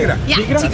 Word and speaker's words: Tigra: or how do you how do you say Tigra? Perfect. It's like a Spanish name for Tigra.